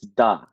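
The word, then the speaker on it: да: that okay yeah so that is actually the Russian word for yes it's da oh you know oh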